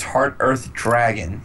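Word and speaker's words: Heart-eartH Dragon: Number 96, Heart Earth Dragon.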